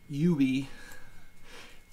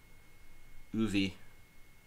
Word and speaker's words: Uwe: Uwe, the Dutch world champion Uwe would definitely got it. You got to put that in the top 10. Almost everyone mispronounces that. Uwe, like Uwe Reis.